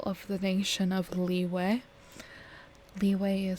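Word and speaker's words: Liyue: harbor the capital of the nation of leeway leeway is spelled l i y u e leeway currently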